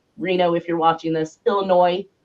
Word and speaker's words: Illinois: if you're watching this, Illinois. Let me make sure I don't pronounce that S.